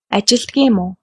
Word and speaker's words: ажилладаг юм уу: In spoken Mongolian, we tend to contract words. For example, ажилладаг юм уу becomes ажилдаг юм уу?